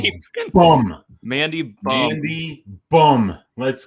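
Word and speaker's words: Mandy Böhm: Mandy Bum. Mandy Bum. Yeah, that's bum. It's pronounced Mandy bum.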